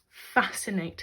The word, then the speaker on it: fascinate: was enough to fabulous fascinate her and again like conscious we've got the silent sea after the S the sixth one he